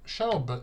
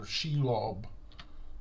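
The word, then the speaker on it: Shelob: Shell is or sheilob depending on your choice of pronunciation is actually a very weak unique.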